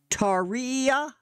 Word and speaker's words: Tarja: pronounce her name properly Taria I guess tiia or t Taria so I'm taking it that the J is silent um forgive me for